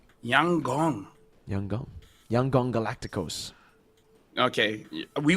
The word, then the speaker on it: Yangon: By the way, Lfell, apparently YG is pronounced Yang Gong. Yang Gong Yangong.